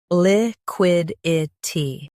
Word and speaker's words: liquidity: Liquidity. Now read the syllables shown on the screen naturally. Li. Quid. I. T. Liquidity. Stress quid and keep itty light.